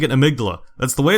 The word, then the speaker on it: Amygdala: I'm pronouncing it amigdala.